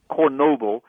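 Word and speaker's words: Chornobyl: I mean, because wormwood translates into Ukrainian as Chernobyl, or that's the Russian pronunciation. Kornobyl is how it is in Ukraine.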